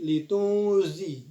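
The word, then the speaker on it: لِتُنْذِرَ: Nah, di sini ada hukum bacaan ikhfa ausat dan cara bacanya samar-samar, kemudian berdengung dan harus seimbang. Ketika dibunyikan huruf nun sudah langsung bersiap masuk ke huruf zal. Jadi litunzi. Nah, jadi seperti itu.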